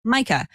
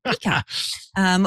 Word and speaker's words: Mikah: And Mikah, no matter how many times I have told Siri that your name is pronounced Mikah, she persists on saying Mikah, which is kind of adorable and makes me think of, Miko in Pocahontas, the little raccoon?